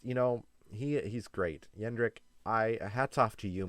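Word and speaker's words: Jendrik: we got to see yendrick it's yendrick not jendrick i'm sorry my bad i should have realized that um i heard him pronounce his name so that's how i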